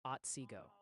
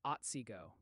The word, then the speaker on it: Otsego: They're saying it's pronounced Shiawassee and Otsego.